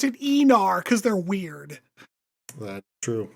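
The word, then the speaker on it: Aenar: Um, so it is spelled Anar, but they pronounce it Enar cuz they're weird.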